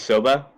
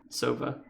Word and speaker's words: Sova: Wait, did you say his name is Soba? Sova. S-O-V-A. Oh, okay. Because I was about to say S-O-B-A.